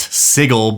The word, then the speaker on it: Sigil: And yeah, I know it's pronounced Sigle, but I am ungovernable and I would never say that.